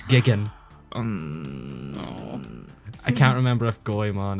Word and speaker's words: Jigen: You also missed out on the dub mispronouncing Jigen's name. It's Gigan.